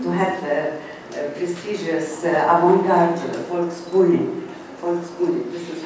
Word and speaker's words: Volksbühne: move to Berlin to have a prestigious avant-garde Volksbühne, this is how you pronounce it.